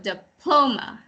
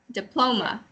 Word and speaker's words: diploma: diploma the accent sorry the accent is on the second syllable so diploma diploma okay another one is